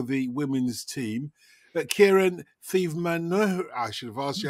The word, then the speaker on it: Theivamanoharan: That is the mistake that most people make, is they go with the th at the beginning. Is it Theivamanoharan? It's Theivamanoharan. Theivamanoharan.